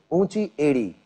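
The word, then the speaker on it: ऊँची एड़ी: Unchi edi.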